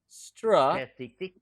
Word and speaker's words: strategic: Strategic. Strategic. Strategic. Strategic. That's how you say it. T. With the T, it's kind of like long. T. Strategic. Strategic. Again, strategic. Not jick.